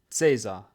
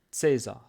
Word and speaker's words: Cäsar: Иногда она произносится как К и иногда как Ц. Например, есть слово компьютер, и оно пишется с буквой Ц, но произносится как К. Но есть имя Цезарь. Цезарь.